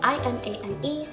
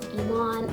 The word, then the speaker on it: Imane: So my real name is Imane, it's spelled I-M-A-N-E. In English, it's kind of said Imane. In French, it's Imane. Imane. Imane. In Arabic, it's Imane.